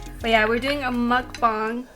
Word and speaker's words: mukbang: bang yeah it's not mooc bang um it's actually mukbang okay not that it's